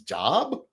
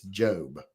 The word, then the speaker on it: Job: Because I saw people, when I was younger, I see people whose name is Job, and I think their name's Job. But it's Job.